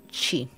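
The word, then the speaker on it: sídhe: En muchas culturas, los guerreros muertos eran enterrados en montículos de piedras circulares o montones llamados sides, pronunciado chi.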